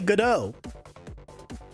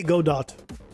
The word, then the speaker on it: Godot: I've heard many ways of pronouncing Godot. Some people say Godot. I say Godot.